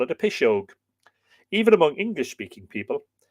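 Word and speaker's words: piseog: We call it a Pishog. Even among English-speaking people, in the modern form, Pishog, spelt P-I-S-E-O for the G, pronounced P-I-S-H-O-G-E, and familiarly applied to witchcraft or spells.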